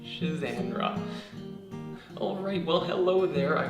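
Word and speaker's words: Schisandra: The next one we're going to be working on here, now if I can pronounce it correctly, is Shenandra. Let's try that again. Shizandra.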